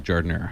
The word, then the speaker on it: giardiniera: I like how you say it properly too, giardiniera.